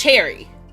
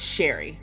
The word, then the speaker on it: Cherrie: It's Cherry. No, it's Sherry. Her name is Sherry Lurve. I might say cherry. I might say chereé, but a cherry. Spelled like cherry with an iie at the end instead of a y.